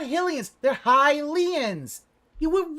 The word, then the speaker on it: Hylian: it doesn't sound right because you're pronouncing it wrong it's highly the race are Hylian the the nationality is